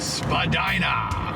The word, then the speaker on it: Spadina: We're going to be getting off at Spadina. You don't have to say it like that, but that's how I say it.